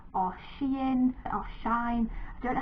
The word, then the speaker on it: Shein: I bought some items from a company called Shein or Shein or Shine. I don't know how you're meant to pronounce it, but I say Shein.